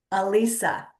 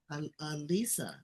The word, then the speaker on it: Alisa: Do you pronounce it Alisa or Alise? Alisa. Alisa.